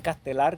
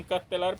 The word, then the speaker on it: Castellar: Castelar lo pronuncian Castelar, pero se escribe Castellar.